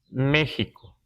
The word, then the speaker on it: México: los documentos antiguos aparece México y así lo pronunciamos todavía es Parece ser que en algún momento esta x se prod usaba como J en algún tiempo en